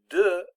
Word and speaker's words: de: Now, it's important to remember that the word de is pronounced de. It's got the short E on it. It's not pronounced de, because that's how D-E-S is pronounced.